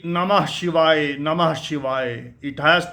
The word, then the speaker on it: नमः शिवाय: पर द मध्यरी शाखा the pronunciation is नमः शिवाय नमः शिवाय नमः शिवाय नमः शिवाय नमः शिवाय नमः शिवाय it's more intense and the emphasis on ह नमः शिवाय इट मेक्स द मंत्र मोर हीटिंग एंड इफ़ेक्ट।